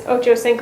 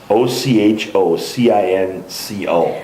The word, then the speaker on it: Ochocinco: And then for reference, it's Ochocinco, all one word. Ochocinco.